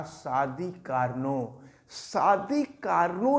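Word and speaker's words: Carnot: यानी कैरनॉट, एक चीज़ देखें, कार्नो की जो इंग्लिश होती है, आप स्पेलिंग देखिएगा, कैरनॉट है, कैरनॉट्स हीट इंजन, कार्नो का आदर्श ऊष्मा इंजन।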